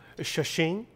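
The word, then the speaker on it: Shaoxing: This is, do you remember the pronunciation? I lost it. Shashing.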